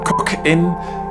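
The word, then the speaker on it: Cokin: bleeping out in but apparently I pronounced it incorrectly anyway this this is the cook in very color red green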